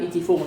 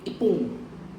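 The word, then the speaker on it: 一分: Bukan ichifung, tapi ipung.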